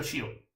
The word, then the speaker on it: tio: Zio, tio. Tio. Che pronuncia Cio.